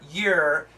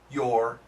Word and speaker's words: you're: the typical pronunciation and then finally you are you're the pronunciation perfect pronunciation you were you were you were if a little bit faster you're your your and really fast year year so